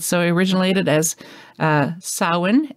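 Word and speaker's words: Samhain: of people pronounce it Sam Hayne but it is a Celtic word it's s-a-m-h-a-i-n as you probably all know but it's pronounced sauwin because it's uh it's Gaelic so it's really hilarious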